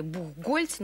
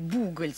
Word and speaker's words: Бухгольц: тоже в кино слышали бухгольца но мы привыкли говорить бухгольц все таки почему именно такое ударение но вот наши редакторы фильма пришли потому что правильно бухгольц то есть а фильме